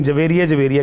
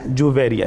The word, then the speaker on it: جویریہ: لیے بھی ہے کہ یہ تلفظ درست کر لیں، ہمارے یہاں عموماً بچیوں کا یہ نام محبت سے رکھا جاتا ہے لیکن جویریہ کہتے ہیں، نہیں جویریہ ہے۔ تو آپ رضی اللہ